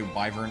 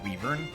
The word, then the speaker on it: wyvern: it does not matter whether you say wyvern or Weaver because both pronunciations are correct um it's very much